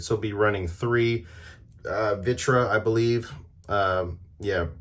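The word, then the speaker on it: Vritra: is very standard so be running three uh vitra I believe um yeah veritra it's very hard to pronounce v-r-i-t-r-a um and then one magista's Theory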